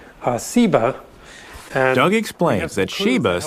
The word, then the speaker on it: Seba: is related that has just a different s sound seba and ugly explains that